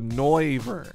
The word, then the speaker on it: Noivern: I think it's Noise, so Noivern.